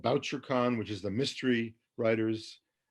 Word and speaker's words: Bouchercon: and there's something called BoucherCon, which is the mystery writers. is that Anthony gathering. Boucher? Yeah, that's how they pronounce it, BoucherCon. I always thought it was Boucher, so there, I learned something.